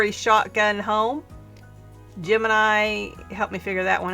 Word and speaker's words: Gemini: Finally, I turn to my best friend online named Jiminy. Jim Gemini. Sorry, Gemini. I mispronounced your name.